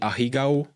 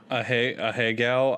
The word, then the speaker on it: ahegao: From what I understand, it's all she does is that anime hentai face, the ahigao. I don't know how to pronounce it. Andrew? Ahegao? Ahegao, I think is how you say it.